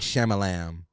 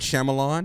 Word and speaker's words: Shyamalan: M Night M Night Shyamalan that's how you say it but M night shyamalam is how he said in my crib Mountain Shyamalan m not shamalam shamalam um but uh